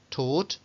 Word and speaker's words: taught: Bueno, por ahí un par de excepciones que lo que hacen es no con OU, sino con AU, aunque la pronunciación es con una O larga, igual que las de arriba.